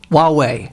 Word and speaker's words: Huawei: pronounce it h what forget about the H wuwei wuwei the H of Silence yeah exactly WWE I